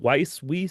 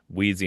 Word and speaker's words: Weiss: How you say it? Weiss? He's like Wheezy.